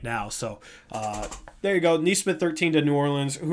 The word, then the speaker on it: Nesmith: Honestly, Nesmith I do think is a good fit.